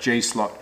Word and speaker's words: G-Slot: got to be very careful on how i pronounce the name it is g-slot slot cars that is correct g-slot so stick around let's check out this i